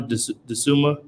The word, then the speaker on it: Dosunmu: Dosunmu.